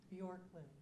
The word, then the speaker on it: Bjorklund: Bjorklund. Just like it's spelled.